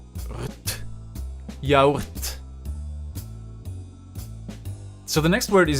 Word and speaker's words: yaourt: Again, O and U become a U, and that's basically the only thing you need to keep in mind. You just say ya, u, rt, yaourt.